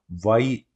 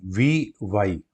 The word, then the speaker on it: Wei Yi: तो आज की जो हमारी गेम है फ्रेंड्स, वो है थर्ड राउंड की, अरविंद चिदम्बरम वर्सेस वाई, नहीं, वी वाई।